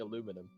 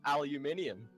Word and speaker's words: aluminium: your spelling of color as soon as you stop saying aluminum how about you start saying aluminum and start stop no cuz I'll say it correctly aluminium oh my God your